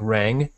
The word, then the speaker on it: rang: This is the NG sound. It's not pronounced. It's like rang, rang.